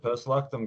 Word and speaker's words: Post Luctum: hanging out with Ian from, I think it's Post Luctum. Is that how you say it, or am I butchering it on you? That is it. That is it. Post Luctum, good sir.